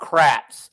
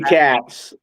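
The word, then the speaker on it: Katz: Um I sent you thing about Kratz. Uh Andy Kratz or is that how you say his name? Oh, yeah. That wasn't about the power rankings. Andy Catz.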